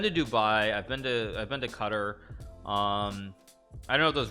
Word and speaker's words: Qatar: It's like Qatar. It's like Qatar. I mean, but it's like Qatar basically is how you pronounce it.